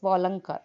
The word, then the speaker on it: Walankar: इन 1888 Gopal Baba वालंग वालंगर वालंगरकर, actually वालंकर it is Walankar, not G should not be pronounced.